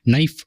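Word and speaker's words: knife: நைஃப் அப்படின்ற வேர்டில் கே அப்படின்றது நம்ம சைலண்ட், அதை ப்ரொனவுன்ஸ் பண்ண மாட்டோம்.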